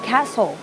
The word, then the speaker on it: castle: l e cle Castle สังเกต การ ออก เสียง นะ คะ ว่า เหมือน กับ เรา บอก ว่า Cast แต่ ว่า เสียง ของ ตัว S เนี่ย ออก เสียง ข้าม ไป เลย คือ ตัว T ไม่ ออก เสียง อื ไม่ ได้ ออก ว่า Cast นะ คะ ไม่ ได้ ออก ไม่ ใช่ Cast นะ คะ ออก ว่า แคส แปล ว่า ประสาท คฤหาสน์